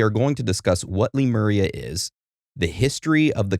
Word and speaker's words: Lemuria: And they said, well, there's multiple different ways you can pronounce it, depending on where you live. But if I was giving a lecture over this, I would pronounce it Lemuria.